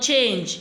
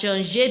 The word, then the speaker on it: changé: You see that is not change. It's pronounced as changé because the last E there has an accent on it.